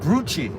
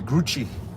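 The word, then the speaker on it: Grucci: So the company Gucci I think that's a Italian pyrochnic group rhyming with Gucci and Coochie and Gucci but does not rhyme with dookie.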